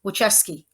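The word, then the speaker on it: Wojcicki: uh blah and I keep forgetting how to pronounce her name her name is wucheski there she is um she resigned she basically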